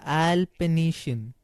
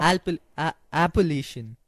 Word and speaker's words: Appalachian: But you told me that in the trail wise, your long-term goal was to trail the Alpination. Have I pronounced it right? The Appalachian Trail. Appalachian.